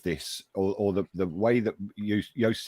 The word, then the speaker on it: Joost: She's Dutch, as is Joost, and that's why Joost, to pronounce his name properly, is Joost.